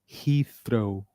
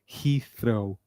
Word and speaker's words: Heathrow: How do we pronounce this? Heathrow. One more time, repeat after me. Heathrow.